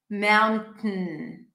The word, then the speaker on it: mountain: listen, kitten, forgotten, mountain, keep the tongue up, release air through the nose, mountain.